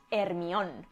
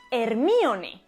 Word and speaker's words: Hermione: una prostituta hermione granger si en españa decimos hermione sin embargo la pronunciación correcta debería ser hermione y diréis porque elena